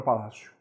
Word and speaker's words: Palácio: cuidado com a palavra Palácio sílaba tônica essa aqui é penúltima Palácio é paroxítona só que a letra O que está o final dessa palavra não tem som de o você não diz palavras